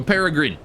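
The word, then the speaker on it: peregrine: Oh, peragrine. I think you pronounced that bird's name weird. Probably. I pronounce it British. There you go. Paragrin.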